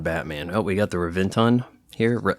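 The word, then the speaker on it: Reventón: Oh, we got the Reventon here. I think some people pronounce it with a B, Rebenton.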